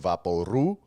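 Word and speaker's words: Vaporú: powers of a thing we called vaporu which is how you say vaporub in puerto rico broke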